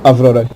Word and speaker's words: Avrora: well, if you want to go for the Russian pronunciation, Avrora is not in good shape.